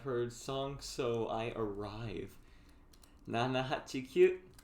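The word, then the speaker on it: 七: You actually wouldn't say Shichi, it's Nana. Yeah, And I'm like, what the fuck is my life and numbers?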